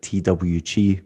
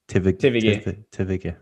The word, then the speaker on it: TVG: See, that's where the Austrian comes in, because I would always pronounce it like TWG, but you're like everyone. TVG.